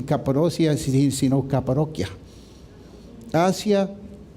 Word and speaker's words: Capadocia: en el mismo lugar, Capadocia. Sé porque mi papá ha viajado hasta allá y me corrigió, me dice Brian, ahí no se dicen Capadocia, no dicen Capadocia, sino Capadocia.